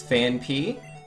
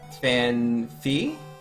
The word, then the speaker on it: Phanpy: you the nurses yo I just recently found out it's phanpy and not fan fee you feel so hurt